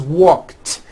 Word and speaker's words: walked: The word walk, which has an unvoiced K sound at the end, walk, becomes walked. Yesterday I walked.